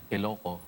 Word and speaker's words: Ilocos: Ilocos. Ilocos.